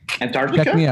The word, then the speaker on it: Antarctica: that word properly so antarctica antarctica killed it ant like a-n-t yeah yeah what do